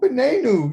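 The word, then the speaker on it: בננו: our son is new so how do you say sun our sun ben i knew there you go benenu yes that's all we're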